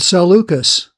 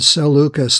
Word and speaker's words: Seleucus: it is Ptolemy and Seleucus, like we're selling something.